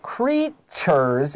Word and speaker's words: creatures: to catch sea creatures look at the word creatures and we can see that t has a c h sound please write it down